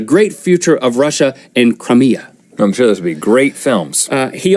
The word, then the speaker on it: Crimea: Russia annexed Crimea and until you say it right you always want to say it the wrong way cry me a river they made an announcement